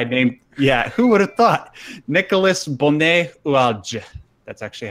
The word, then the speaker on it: Nicolas Bonnet-Oualge: Nicolas Bonnet-Oualge. That's actually how it's pronounced.